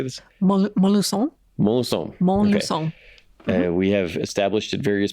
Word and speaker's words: Montluçon: Montluçon.